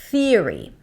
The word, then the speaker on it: theory: Theory. Theory. What a great theory. Theory. It's only in theory. Stick the tongue out. Feel the air passing. If you hear theory, then you want to relax the tongue.